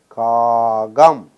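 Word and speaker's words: காகம்: Ka, gam. Mark the pronunciation. Ka, gam. This ka becomes ga because of the previous letter.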